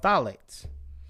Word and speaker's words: phthalates: we'll do it one more time they're called phthalates now would you like to go more into